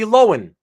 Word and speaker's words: Lohan: Logan no so so so when I I saw the name when she was a kid and I'm like what's this kid's name ah Lindsay Lohan okay it's like a silent h Lindsay Lohan that's what I saw and then I'm hearing everybody Lohan Lohan and I'm like oh it just doesn't sound yeah you have the